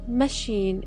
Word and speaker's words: machine: stress you should did the word machine is stressed on the second syllable her first hadn't altered